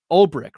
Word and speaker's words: Ulbrich: I know people like Ulbrich, right?